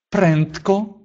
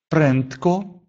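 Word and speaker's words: prędko: Или «прентко», «прентко», «быстро», «бенджи», «бенджи», «буду», «я буду», извините, «ты будешь», вернее, «он будет», извините, это просто опечатка.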